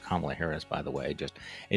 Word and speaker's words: Kamala Harris: joe biden has picked kamala harris it is pronounced kamala harris by the way just a note to tucker